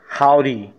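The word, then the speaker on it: haughty: खैर ube proud तो सर हमने सुना था, ये क्या लफ्ज़ है, लेट्स सी, इसको हाउडी, हाउडी, हाउडी, इसकी प्रोनाउंसिएशन क्या है, लेट्स सी, हाउडी, इसका मतलब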